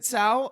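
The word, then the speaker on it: Tso: Yeah, he was saying General Tao's kitchen or General Tao's Chicken. chicken. Yeah, and- that's what he was saying. And then you guys were like, you know, that's not how you say it.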